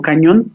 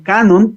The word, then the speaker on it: canon: el Canon de acuerdo Canon no cañón ni mucho menos ni Canon la marca de toallas hay haer la la aclaración aunque se escribe se escribe igual Canon viene de hecho